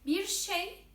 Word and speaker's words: bir şey: You know, Turkish is not pronounced as it is written, but bir şey, it means something, is written with R. Normally it is pronounced, but we don't pronounce it, okay, in daily speaking.